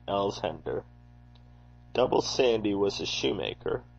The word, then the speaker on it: Alexander: said Dooble Sanny, as people generally called him, his name being Alexander, pronounced by those who chose to speak of him with the ordinary respect due from one mortal to another, Sandy Elshender.